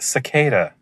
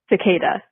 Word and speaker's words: cicada: to put it on your profile Dan it's pronounced cicada cicada thank you cada cada cada it's not a